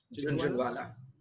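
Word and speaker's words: Jhunjhunwala: I don't know how to say his name, last name, Junjawala? Junjawala? Junjunwala.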